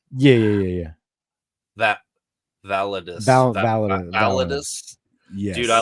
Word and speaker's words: Validus: Validus?